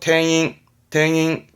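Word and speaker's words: 店員: 탱잉입니다. 링이 아니고 탱잉.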